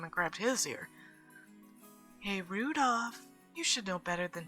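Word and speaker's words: Rudolf: whatever this is anyway this guy's name is pronounced Rudolph haha he must hate grandfather for giving him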